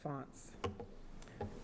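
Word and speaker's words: fonds: F O N Ds, pronounced fonts.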